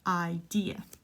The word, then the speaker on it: idea: Pronounce this idea. I know in Spanish idea, but idea.